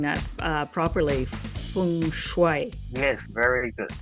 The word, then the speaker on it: Feng Shui: Feng Shui. Yes, very good. The Feng Shui is more Mandarin. Then there's also a Cantonese version as well. And there's a little bit different pronunciation.